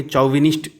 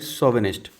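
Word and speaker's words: chauvinist: लिखा है शोविनिस्ट. Okay. जैसे अगर पढ़ेंगे चौविनिस्ट type, but this is नॉट the correct pronunciation. You have to pronounce it like शोविनिस्ट.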